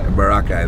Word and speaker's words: Boracay: to work High Island so they say barakai right barakai that's like the actual that's like the real way to say I think all the tourists in foreign apologies American pronunciation yeah but yeah I